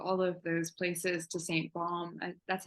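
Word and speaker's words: Sainte-Baume: I've so wanted to go to all of those places, to St. Baume. That's how you say it, right? Yeah, St. Yes, Baume. Saint-Baume.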